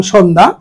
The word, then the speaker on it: সন্ধ্যা: আমি উচ্চারণ করলাম সন্ধ্যা। কিন্তু আমি আসলে উচ্চারণ লিখলাম সন্ধ্যা। উচ্চারণ করলাম কি? সন্ধ্যা। সন্ধ্যা। তালব্য স ও কার দন্তন্য হসন্ত ধ আকার সন্ধ্যা এরপরে দক্ষ দক্ষ শব্দটি